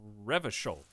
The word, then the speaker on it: Revachol: Revachol's pronounced Revachol.